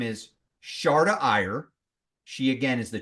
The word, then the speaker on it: Sharada: you on the show Sharda want to make sure I'm saying it right great to have you on the show you got it right perfectly thank you thank you